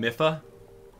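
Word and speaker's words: Mipha: wild absolutely it is here we go okay mifa mifa mifa let's go let's put her in do some of you guys pronounce her name miffa i swear there's someone out there that's like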